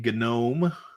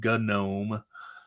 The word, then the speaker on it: GNOME: This particular one is running GNOME or GNOME. I think the people behind the project actually want you to pronounce it with the G, the hard G, GNOME.